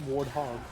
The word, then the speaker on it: warthog: growing up and um for every pronunciation whether it be in game or in the community it's warthog well it does sound